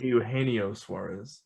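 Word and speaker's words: Eugenio Suárez: Did I pronounce the name wrong? It is Eugenio Suarez.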